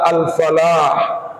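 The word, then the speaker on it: الفلاح: Arabnya petani adalah al-fallah Persis Sama tulisannya yang membedakan hanya tasdid kalau tidak bertasdid bacanya Alfalah artinya keberuntungan kalau bacanya bertasdid kalau bertasdid bacanya al-falah artinya petani al-falah keberuntungan al-fallah petani karenanya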